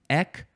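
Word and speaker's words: etc.: say it ET Etc there are two uncommon pronunciations EC there's no T sound there's it's EC or i e or I some for some reason people decided to take out the T Al together now this one this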